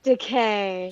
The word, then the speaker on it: Takei: Yeah, he says it's like it's decay, as in rhymes with I'm gay.